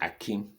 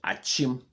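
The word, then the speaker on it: Akyem: You see, the white man say, this is Akim. You call yourself Achim person. And the white man said, that is Akim for me. And you, when he left, you continue calling your town Akim, Akim Oda.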